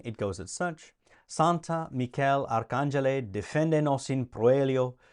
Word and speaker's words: Michael: Michael is how you would say it in Latin, but it's Michael, and it's spelled exactly the same way.